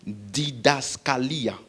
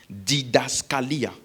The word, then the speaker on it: didaskalia: Le mot enseigner ici, c'est un mot grec qui veut dire didaskalia. Didaskalia. Comme ça s'écrit D-I-D-A-S-K-A-L-I-A.